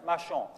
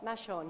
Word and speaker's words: Machon: The pronunciation of your name, the French, Machon. Machon, yes.